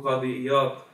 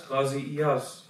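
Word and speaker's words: قاضي عياض: In Arabic, we pronounce his name Qadi Iyad, but the book al-Shifa spreads throughout the world. In South Asia, because we pronounce the word as a za sound, then they refer to him as Qazi Iyaz.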